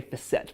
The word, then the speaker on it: facet: to as facet joints I think a lot of people will sometimes even pronounce them as facet joints but most like to say facette because it sounds more sophisticated but let's show you